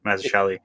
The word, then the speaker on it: Mazzucchelli: There's something similar about like I think you got it right, Mazzucchelli.